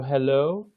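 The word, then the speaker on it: helo: in English hello okay so it's a little bit the O is a little bit heavier so hello hello hello the is just a bit different so hello hello okay okay wonderful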